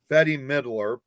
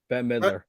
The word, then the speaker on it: Bette Midler: October 2020 hosted by Betty Midler Bette Midler that middle see I keep saying Betty that midward to benefit